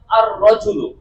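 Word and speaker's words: الرجل: আমি যখন রজুনের উপর আলিফ লাম যুক্ত করলাম তখন বললাম আর রজুল। যখন জান্নাতের উপর আলিফ লাম যুক্ত করলাম তখন বললাম আল জান্নাত। তার মানে এ আর রজুলের লামটি উচ্চারণ হচ্ছে না।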